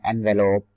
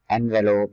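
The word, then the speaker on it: envelope: Similarly letter बंद करने के लिए जो कवर यूज होता है उसको हम कहते हैं एनवेलोप। एनवेलोप, इसको एनवेलप नहीं कहना, एग्जैक्ट जो प्रोनाउंसिएशन है इसकी वो एनवेलोप ही है।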